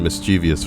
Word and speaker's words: mischievous: the time to mentally Purge the pronunciation mischievous from my brain because there's no I before that o and there never will be thank you I had